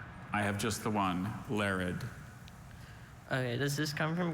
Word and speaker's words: larid: That second syllable, the infamous schwa.